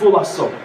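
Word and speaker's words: φυλάσσω: To keep yourselves in the Greek is pronounced phulasso.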